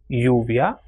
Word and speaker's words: lluvia: If double L comes together, which in Spanish is doble L, it is pronounced as ye. For example, ella, lluvia or llave.